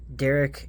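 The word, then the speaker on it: Darrak: a little on purpose Derek Amber Shard it's d-a-r-r-a-k Amber Shard so it's probably like the rock or something but um for some reason I I think Derek is better first wave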